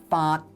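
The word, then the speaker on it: 發: This character is pronounced fart in Cantonese. No, not fart, but fart. Completely different. And it is an entering tone, which would fit into the oblique tone category that is required by the structure of this poem. Yet in Mandarin, it is pronounced fa, and would thus be a level tone, which would go against the tonal structure of the poem.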